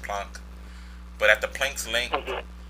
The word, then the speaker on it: Planck: I'm pricing I wrong I think it's pronounced plunk but at the planks